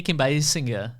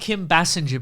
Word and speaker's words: Kim Basinger: Oh, yeah, Kim Basinger. Which was a character. But we called Kim Bassinger back in the day, but then she got a little pronunciation tweak.